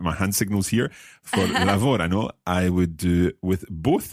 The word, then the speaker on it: lavorano: Lavorano. Now this is where the stress changes, and it's very important to remember that. Let's listen again. Lavorano.